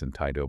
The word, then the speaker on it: Antigo: Yeah, straight out of Langlade County, the city of Antigo. That's in Tigo, by the way, for folks taking notes at home.